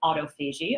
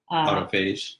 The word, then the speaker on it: autophagy: It doesn't happen when we're awake, called cerebral autophagy, although somebody recently pronounced it autophage.